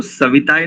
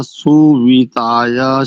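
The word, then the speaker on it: सुविताय: वा सा बहुत अच्छा एक स्थान पर देखो सविता नहीं है वहा पर सविता नहीं वो देखने में थोड़ा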